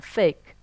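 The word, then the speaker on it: PHEIC: emergencies of international concern, FAKE. It's a bad pronunciation, FAKE, but they're real.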